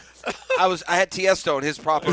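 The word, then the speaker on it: Tiësto: E.T., do you know who Tiesto is?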